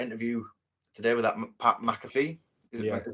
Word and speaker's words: McAfee: I watched that interview today with that Pat McAfee. Is that how you say it? Yeah, and Pat McAfee.